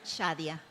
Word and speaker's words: Shadia: Is it how you pronounce that right? Shadia.